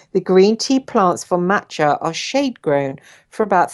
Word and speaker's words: matcha: Okay, matcha, pronounced matcha. I've probably been saying it wrong all this bloody broadcast.